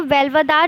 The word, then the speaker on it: Velavadar: Waste India में first state है गुजरात, जिसके नेशनल पार्क्स हैं ब्लैकबक, जिसको वेल्वदार नेशनल पार्क भी बोला जाता है।